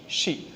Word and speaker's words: she: जो प्रोनाउंस करते हैं इसको सी बोलते हैं, ये CSHE, शी। तो ये इसको हम सी नहीं बोलते, इसको राइट प्रोनाउंसिएशन क्या होती है, शी। एक सी होता है, वो देखना होता है, SEE, ये होता है SHE, शी।